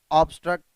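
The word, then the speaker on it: obstruct: ठीक है, obtain, ऑब्स्ट्रक्ट, ये दोनों ऐसे वर्ड्स हैं जहाँ पे क्या आया है, ऑप्टेन में बी के बाद टी तो आया है, लेकिन यहाँ पे बी साइलेंट नहीं है।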